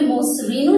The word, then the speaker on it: মসৃণ: কিন্তু মসৃণ এই শব্দটি ব্যতিক্রম। এই ক্ষেত্রে আমি ইচ্ছে করে মসৃণও নিতে পারি অথবা নিতে পারি মসৃণ। এখানে কিন্তু কোনো জটিলতা নেই, আমাদের সুবিধা মতো আমরা যে কোনো একটি মনে রাখতে পারি।